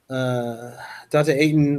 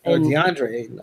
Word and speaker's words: DeAndre Ayton: You're playing behind Dante Ayton. Like, you don't have any time to play. Like, I'm out. And this is something we see happen. DeAndre Ayton.